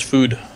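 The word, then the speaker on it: Füd: It's not actually pronounced FUD, though. There's an umlaut there, so it's food.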